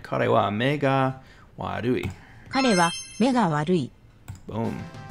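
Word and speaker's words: 悪い: I didn't even think about that with the Wadu, like the way that the R is pronounced. Warui, it's so close.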